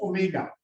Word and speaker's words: omega: that yeah this is not w it is pronounced as omega omega assignment of plane